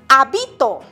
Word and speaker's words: habito: Habito. ¿En dónde lleva la mayor fuerza de voz? En la segunda sílaba, o sea, en la penúltima sílaba. Es palabra grave.